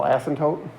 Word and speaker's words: asymptote: right so asymptote that's a-s-y-m-p-t-o-t-e and the p is silent so it's asymptote and then the other